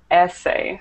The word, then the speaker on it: essay: It should be essay. So, the stress is on the first syllable.